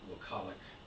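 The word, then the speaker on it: Wokalek: It's W-O-K-A-L-E-K. It looks like Wokalik, but I'm sure that was pronounced somewhat different than that.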